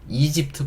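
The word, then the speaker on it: Egypt: 이집트 볼게요. 이집트. 유명한 나라죠? 알파벳 E라고 발음하고요.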